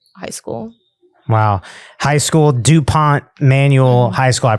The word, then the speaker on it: duPont Manual High School: High school, DuPont Manual High School. I pronounced that right? Yeah. DuPont Manual High School.